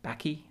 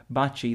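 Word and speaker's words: Baci: it looks like B Baki B I don't know how you pronounce it in English but it's pronounced Bachi in Italian and it means kisses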